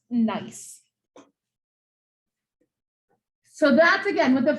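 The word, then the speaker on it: gneiss: and that's the mineral this is pronounced nice so that's again what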